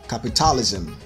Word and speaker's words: capitalism: camouflage camouflage camouflage camouflage number four capitalism capitalism capitalism but the standard pronunciation